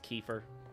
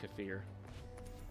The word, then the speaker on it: kefir: Uh, Kafir, which some people pronounce Kefir, but it's supposed to be pronounced Kafir.